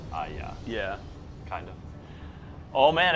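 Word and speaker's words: Hagia: Aya. It's like a Y sound. It's like Instead of a just G. almost pretend the H isn't there. Aya. But then the G is a Y sound. Aya.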